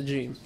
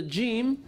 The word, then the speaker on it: جيم: Okay, so some mistakes with regards to jim. The first thing that we must bear in mind is that the jim comes from the middle of the tongue and the roof of the mouth.